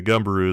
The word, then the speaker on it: Gumberoo: But either way, Gumberoo is how I've heard it pronounced most often when looking it up. In fact, I've heard no one calling it Gumbero. But no, deep down inside, it will always be Gumbero to me.